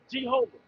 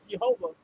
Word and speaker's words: Jehovah: Jehovah. G. There's no J sound in the Hebrew.